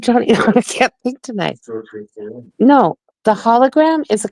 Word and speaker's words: Cirque du Soleil: Cirque du Soleil. Cirque du Soleil.